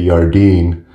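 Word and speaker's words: Jardine: One great one that I will go ahead and plug is the Pacific Crest Trail Hiker's Handbook, written by Ray Yardeen, spelled with a J.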